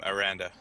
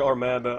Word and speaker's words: Aranda: And I'm Aranda. Alright. I apologize. I called you Armanda.